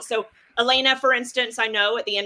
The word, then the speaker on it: Elena: That's how you say it, Elena.